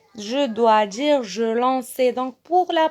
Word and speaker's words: lançais: Et donc, le C devant A, ça se prononce K. Et donc, je vais dire je lanquais. Je dois dire je lançais.